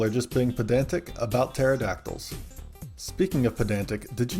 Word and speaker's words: pterodactyl: Ptolemy and Pterodactyl might be the only words or names I know that start with a silent P.